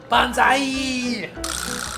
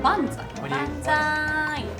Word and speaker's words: banzai: Enough with my bonsai. How do you say bonsai? Banzai.